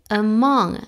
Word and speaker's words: among: me Let Me Play among esa a Es cerradita okay entonces among among y se junta como